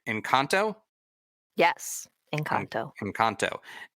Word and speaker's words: Engkanto: yeah let me say let's see if i'm pronouncing this right in kanto yes in kanto from kanto and also the